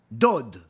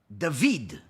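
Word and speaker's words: דוד: Torah, you'll see it, it's spelled Dalet Vav Dalet, which typically would be read as Dod or Dud. But yet it's read David, where the Vav has a chirik, an E sound, as if it has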